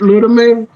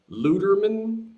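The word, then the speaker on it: Lüdemann: Gerd Ludeman, I think. How do you spell that? G-E-R-D. Gerd. G-E-R-B. No, D is in dad. Okay, wait. D is in dad. Yeah, Gerd Ludeman. Gerd, G-E-R-D, right? Yeah. Luderman?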